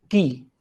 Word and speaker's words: quay: एक शब्द आता है की, इसको की प्रोनाउंस करते हैं। शब्द की स्पेलिंग है QUAY।